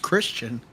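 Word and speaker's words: Kristin: Pronounced Christian with a K. K-R-I-S-T-I-N.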